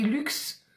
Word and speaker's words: Lux: Il y a une ville aussi qui ça s'écrit luxe, mais on dit lu.